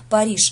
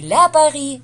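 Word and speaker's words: Paris: произносятся смело без артиклей То есть если Париж - это Пари так и будет Пари никаких ни Пари ни ля Пари и так далее просто Пари запомните это немножко грамматика здесь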